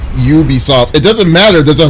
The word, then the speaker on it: Ubisoft: the grammar wasn't wrong you guys the company's pronounced Ubisoft it doesn't matter there's a vow yeah want to be Visi soft.